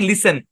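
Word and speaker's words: listen: যেটা লিখছিলাম খেয়াল করেন এল আই এস টি ই এন এই শব্দের উচ্চারণ আমরা কি বলছি লিসেন এবং আমাদের সূত্রটা কি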